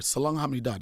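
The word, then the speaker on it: 사랑해: to use that word salang do that's how you pronounce it in Korean next question pronounce what pronounce what I love you salang H you don't like love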